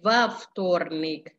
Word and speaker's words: во вторник: Bukan V tapi Vavtornik. Vavtornik. Kenapa ada O-nya di situ? Karena kalau nggak ditambahin O, kata depan V, lalu bertemu V sama T, huruf konsonan tiga-tiganya, pengucapannya susah. Makanya ditambahin huruf vokal di situ, V.